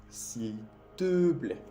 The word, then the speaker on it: s'il te plaît: S'il te plaît. El E que te puse en rojo, el primer E en la pronunciación, se dice E. E. Eso es un sonido tampoco que no existe en español.